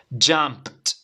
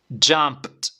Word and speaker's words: jumped: sería jump Okay al final p y t jumped una vez más jumped alr jumped Great That's Great Bueno nos queda